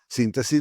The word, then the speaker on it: síntesis: Y por último, significa síntesis, ¿no? Porque síntesis tiene eh el acento en la tercera eh sílaba.